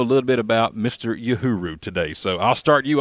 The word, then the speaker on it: Uhuru: Uhuru. Yes, sir. All right, I love it. So Braden's here with us, and we're going to go one-on-one and get to know a little bit about Mr. Uhuru today.